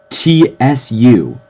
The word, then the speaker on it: つ: it's it's not to this is pronounced TSU in hiragana all right it also